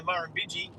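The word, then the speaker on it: Murrumbidgee: In Australia, I say one Marbiji, two Marbiji, because funnily enough, one of our big famous rivers in Australia, the Marbiji, has the same amount of syllables as Mississippi. It's only four.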